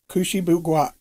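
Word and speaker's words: Kouchibouguac: from a friend and i had to look that up kushiboo guac that's how they pronounce it i i was way off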